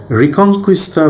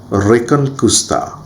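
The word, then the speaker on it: Reconquista: আইবেরিয় উপদ্বীপ বলছি সেখানে রিকংস্তা বলে আমরা একটা শব্দ পাচ্ছি যেটাকে ইংরেজিতে এভাবে উচ্চারণ করা হয় অরিজিনালি স্প্যানিশ প্রোনাউন্সিয়েশন হবে রেকনকুস্তা এই যে রেকন কুস্তা রেকন এখানে কিন্তু আমরা দেখতে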